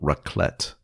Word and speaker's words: raclette: Tell me again what raclette is, and I'll tell you if I'm thinking of that or if I'm making a mistake. Raclette is it's spelled RAKLETTE, raclette, and it comes in a little contraption.